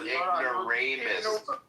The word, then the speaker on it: ignoramus: No, it's ignoramus. Okay. You can't even say the word. Yeah, it's pronounced ignoramus. He's a dumb nigga.